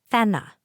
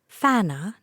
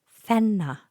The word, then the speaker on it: Fenna: poor tiny baby fenna fenna not a challenging name to pronounce basic English phonics short e sounds like e short a sounds like ah I do not understand why people hear fenna even with our Canadian accent and say fana no fenna I've never heard anyone